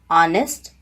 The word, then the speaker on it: honest: h in english language in the beginning of some words letter h is silent because those words are borrowed from french language for example honest our honorable etc here